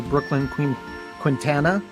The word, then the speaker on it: Brooklyn Quintana: We have our special guest, author Brooklyn Quintana.